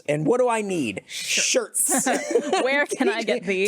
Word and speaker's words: Schertz: i think i'm in a place called shirts and i didn't know that it was spelled like sch whatever so i just typed